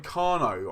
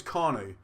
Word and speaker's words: Kanu: I don't know why I keep saying Kano. I know it's Kanu. But after saying Wankwo, I automatically say Kano.